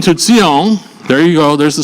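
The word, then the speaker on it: ציון: Okay, and saying to Zion, there you go, there's the spelling for transliteration. It's actually TS, like in Hebrew, but it's pronounced like the TS on the word, into the word nuts.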